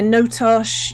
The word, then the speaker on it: Notosh: Is that where he is right now, Notosh? Is that how you say it? Notosh? Yeah, Notosh. Yeah, because it's Tosh in the Great Lakes called Toshin, and then this is like Notosh because it's not Tosh.